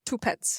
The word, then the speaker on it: Tupetz: say your last name two pets two pets like two dogs two pets yeah yeah